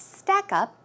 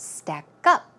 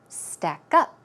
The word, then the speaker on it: stack up: Always keep in mind, when you usually have 2 words, a compound word, the stress goes on the second syllable. So it's not stack up, it's stack up, stack up.